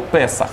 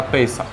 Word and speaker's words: песах: пейсаховка Да они пейсаховка Да от слова песах Да пейсах в ашки Наско произношении песах - это праздник один